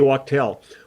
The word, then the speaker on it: Wachtel: How long has Leland been playing with, now, I'm sorry if I don't pronounce this right, Waddy Wachtel? Waddy Wachtel.